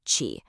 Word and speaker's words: qi: This energy is called qi, pronounced qi.